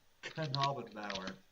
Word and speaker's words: Knabenbauer: And yes, the K in front of his name is not silent. I learned that from watching one of the episodes. It's actually pronounced Knabenbauer.